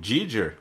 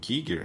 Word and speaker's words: Giger: eu ia falar que aí entra na jogada o Giger, ou Giger, né? Depende da pronúncia do local, né?